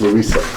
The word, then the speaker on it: Louisa: Mention, it's not Louise, it's Louisa.